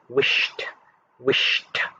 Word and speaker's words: wished: column the third word wished you can hear the t cell so that goes under